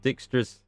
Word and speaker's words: Dijkstra: right away probably fast travel it you love Dijkstra that's how you pronounce its dialogues um I love all the